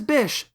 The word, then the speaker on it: Bish: seriously that's his name his name is Bish it rhymes with fish and won't the heroes